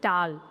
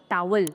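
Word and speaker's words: towel: तो इसको हम टॉवल नहीं पढ़ते हैं। दिस इज टाल। टाल। डब्ल्यू वाली साउंड साइलेंट है। सो इट्स टाल ना कि टॉवल।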